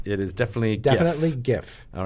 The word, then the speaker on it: giff: if not per month not pronounced jiff right correct it is definitely a definitely gif all right good to